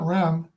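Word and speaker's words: Rhem: Sparky Adams and Flint REM Flint Ram I think that's pronounced rain notice where he's from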